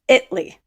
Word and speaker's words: Italy: Spelled Italy, pronounced Italy.